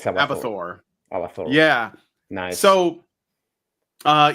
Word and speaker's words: Abathor: present that his great team put together called abathor is that how you pronounce it yeah it's abor AB yeah nice so uh yeah it looks